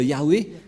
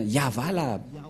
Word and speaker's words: Yahvah: que dans la translittération, ça ne devrait pas du tout être Yahweh qui ont induit en erreur les catholiques romains. Car dans le Sefer Torah, c'est bien Yahva la prononciation. Et on va prendre en photo, car certains aussi disent que c'est Yahwa, mais pas Yahva.